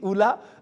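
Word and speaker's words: Ulla: Oui, Oula, c'est un nom très original. Ça s'écrit U-L-L-A.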